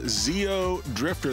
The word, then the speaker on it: Xeodrifter: another one this is called zeo drifter that's the proper way to say it yeah and this is